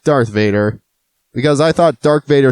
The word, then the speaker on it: Darth Vader: characters of all time dark Vador yes you heard me dark Vador not Darth Vader because I thought dark